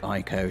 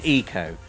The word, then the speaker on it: Ico: there's always arguments over the correct pronunciation. Ico is probably the correct pronunciation.